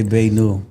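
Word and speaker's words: beignet: So I like being in my if I'm saying that right, Bay Nut, it's spelled like BAEUNUT. Yeah, we gonna say Bay New. Okay. Bay so New they French.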